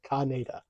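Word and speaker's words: Kaneda: I've always said Canada, but like in the films it's always pronounced Kanada.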